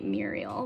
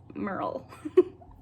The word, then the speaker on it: Merle: this is the mural i can never say her name the merle baldridge story i always want to say muriel but it's merle okay so floyd county